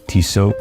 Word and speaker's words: Tissot: At the side of the railing we have Tissot, but I believe you pronounce it Tissot.